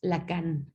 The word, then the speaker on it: Lacan: Para Jacques Lacan, se escribe L-A-C-A-N, Lacan, como se escucha.